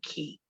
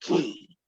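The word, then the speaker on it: Caye: or half moon k it's half moon key so it's pronounced key okay so that's just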